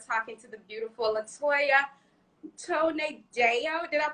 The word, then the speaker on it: Tonedo: So, for those who are just joining, today we are talking to the beautiful Latoya Tonedo. Did I pronounce it right? Tonedo, yeah. Tonedo.